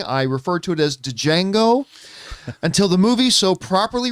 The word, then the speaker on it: Django: referred to it as django until the movie so properly reminded us the d is silent many many times this